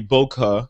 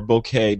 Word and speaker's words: bokeh: depth of field or the bokeh or bokeh depending on how you want to pronounce it in other words the